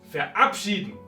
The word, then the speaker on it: verabschieden: O, como en este caso, verabschieden, no importa cuántos prefijos tengamos, está el acento en el prefijo separable.